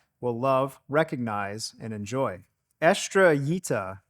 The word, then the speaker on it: Estrellita: Estrellita is how you pronounce this. Actually, for years I've pronounced it Estrellita, but recently it was brought to my attention that I was saying it wrong.